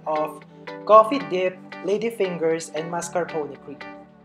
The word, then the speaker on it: mascarpone: finger as basement so correction guys it's actually pronounced as mascarpone so yeah so we know uh